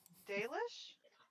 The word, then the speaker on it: Dalish: Dalish?